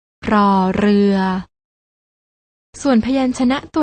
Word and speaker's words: ร: ชัด เจน ได้ แก่ พยัญชนะ ตัว แรก น้อง ๆ ต้อง อ่าน ออก เสียง โดย การ กระดก ลิ้น อย่าง นี้ ค่ะ รอ เรือ ส่วน พยัญชนะ ตัว ที่